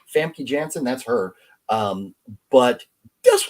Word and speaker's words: Famke Janssen: her name up there oh uh is it fancy jansen is that how you say her name famke janssen that's her um but this was an excellent